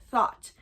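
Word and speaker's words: Thoth: or spelled th h o t h but pronounced thought in Egypt.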